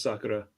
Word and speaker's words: Sakura: Um you because you call it Sakura. I call it Sakura. Maybe I'm Maybe I'm reading it wrong. I think it's just the pronunciation. The the proper pronunciation in Japanese is Sakura.